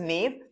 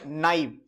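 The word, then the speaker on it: naive: This is pronounced like people pronounce it एज नेव, बट not. This is actually pronounced as नाइव. इसका pronunciation नाइव होता है.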